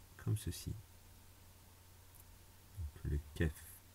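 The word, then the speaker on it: كاف: Donc, le kef. En français on dit K, en arabe on dit kef. Donc maintenant, si je veux écrire K, donc, comme ceci en français, c'est très simple. Je prends mon kef, je l'écris, et au-dessus,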